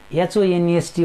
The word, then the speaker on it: honest: We need to focus on its pronunciation, we need to focus on its sound. So look at in honest, H-O-N-E-S-T, honest, what is there?